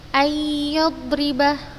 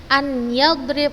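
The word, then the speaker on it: أن يضرب: Ayyadribah, nun mati bertemu dengan ya, nunnya tidak dibaca, dia dimasukkan ke huruf ya-nya. Ayyadrib, ayyadrib. Ustazah tidak membacanya an yadrib, la. Ayyadrib dimasukkan ke ya-nya dengan gunnah.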